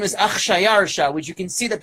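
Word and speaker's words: Xšayaršā: The Greeks were unable to pronounce the Persian sounding of it. It's Achshayarsha. It's 2 consonants in a row.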